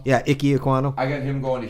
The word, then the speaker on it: Ekwonu: can never pronounce this last name right. Iquano. Yeah, Ike Ekwonu.